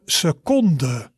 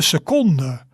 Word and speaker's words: seconde: we would say de seconde. De seconde. You see, almost same, but we have an sound at the end.